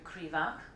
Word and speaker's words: Krivak: Well, our first author won our fiction prize, and that is Andrew Krivak.